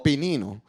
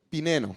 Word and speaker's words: pineno: Por ejemplo, el pinesol también es un terpeno, pinesol, o pinino. Pineno, gracias por la corrección en pronunciación.